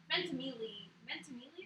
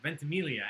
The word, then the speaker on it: Ventimiglia: Ventimiglia. Yeah, see, I don't feel so bad. Ventimiglia, and I love You him.